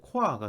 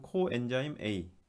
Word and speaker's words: CoA: 코라고 읽으면 안 되는데 저는 저 코아라고 읽고 싶네요. 왜냐면은 요 옛날에 가수 중에 보아라고 있었는데 보아 이렇게 썼거든요. 가운데 오만 이제 여러분들 보아 좀 아시죠? 그래도 음, 여기 이렇게 썼는데 그래서 이거 보면은 할 때 볼 때마다 코아라고 읽고 싶네요. 자, 그렇지만 요거는 코아가 아니라 요 정식 명칭은 코엔자임 A.